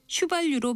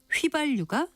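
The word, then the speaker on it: 휘발유: 그리고 자동차에 넣는 기름 중 하나인 휘발류를 휴발류로 발음하는 분들도 종종 있지만 이것은 휴발류가 아니라 휘발류가 정확한 발음입니다.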